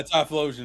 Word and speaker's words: Typhlosion: Yeah, Typhlosion is his name.